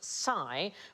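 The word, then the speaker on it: psi: and we pronounce it Sai but in Greek that sound is more like the PS that we have in laps oh what about philosophy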